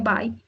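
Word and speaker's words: buy: se escribe como bui que es by se pronuncia by en presente y en pasado se escribe Bot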